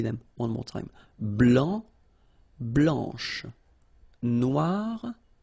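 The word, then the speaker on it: blanche: form here okay so here masculine BL don't pronounce the final C and then Blan okay remember when you combine this c as you get the sound blanch okay so BL blanch no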